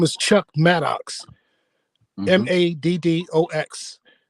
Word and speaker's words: Maddox: Maddox. So my stage name is Chuck the Mad Mad, still And spelled with two D's.